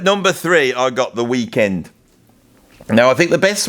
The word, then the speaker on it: The Weeknd: Now, The Weeknd is actually pronounced Weeknd like that. Weeknd, right?